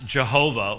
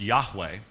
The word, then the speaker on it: Yahweh: There is almost no chance whatsoever uh that Jehovah was the uh original pronunciation What's called the Divine name uh most Scholars would say that the Divine name was pronounced Yahweh and in the Hebrew it's called the tetragrammaton